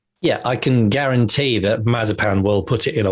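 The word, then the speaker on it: Mazepin: i can guarantee that mazapan will put it in a wall that's what i can guarantee i think it's uh mazzy pin is the pronunciation marzipan yeah mazzy pin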